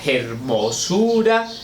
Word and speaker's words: hermosura: No, pero es que se decía decidme la hermosura. Nos suena raro, pero era así y no se producía la sinalefa, ¿vale?